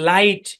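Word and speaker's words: light: vowel আছে তাহলে জি এইচ টা সাইলেন্ট এবং এই আই টা কিন্তু লং সাউন্ড দিবে আমরা বলছি আই জি এইচ একসাথে থাকলে কিন্তু লং সাউন্ড দেয় মনে আছে সেকশন ফাইভ এ তাহলে এই শব্দের উচ্চারণ কি লাইট কি উচ্চারণ লাইট লাইট মানে কি লাইট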